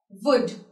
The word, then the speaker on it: would: Talk, walk, would, and jog. Would you like to have a tea with me? See. The letter L is not at all pronounced in the word would.